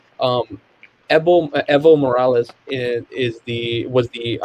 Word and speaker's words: Evo: the imara president and i don't like when people say evil that the that it's a that's a pronunciation that like just does not ring well to the ear um evo morales is the was